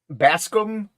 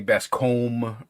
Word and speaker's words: Bascom: pronounce your last name basum bass and then scum basum okay all right I